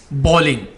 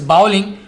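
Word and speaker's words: bowling: ही इज़ बॉलिंग। अगर आप इसको ये कहेंगे कि ही इज़ बाउलिंग, तो आपका जो प्रोनाउंसिएशन है, आपका तलफ़ुज़ है, वो गलत हो जाएगा।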